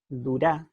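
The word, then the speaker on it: דּוּרָא: Durá, en realidad, el acento está al final.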